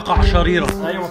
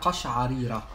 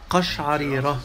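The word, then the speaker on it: قشعريرة: Amr, I have a qasharira. صح؟ Did I say it right? ايوه. طب وصلت العربي يا رائد. لا انا ما بوصلش حاجه. اسمها قشعريره. قشعريره. قشعريره دي حاجه ثانيه.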